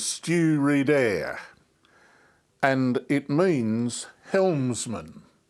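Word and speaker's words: Stiùireadair: one at pronouncing Scottish I pronounce it as stew redair and it means Helms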